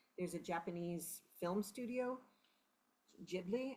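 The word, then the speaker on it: Ghibli: We just played two weeks ago, we played a concert of of music from there's a Japanese film studio, Jibli, I believe it's pronounced, and it was beautiful music.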